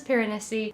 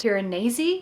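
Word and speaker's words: Piranesi: book so this is pessi I think it's actually pronounced panesi which is the way that Susanna Clark who is the author pronounces it so we should probably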